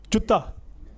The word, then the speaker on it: Jutta: In fact, this second word, I don't know how to pronounce, because two type of pronunciation is there. So Jutta is something, in fact, I'm very clear about. So, Jutta.